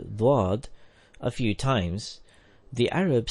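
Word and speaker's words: ض: Hazrat Musleh Maud said that the Indian people recite the letter Dwad like Dad or Zad. But its roots are different.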